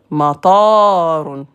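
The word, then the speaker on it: مطار: Matarun, de la pluie. Matarun, un aéroport. Tu changes carrément le sens.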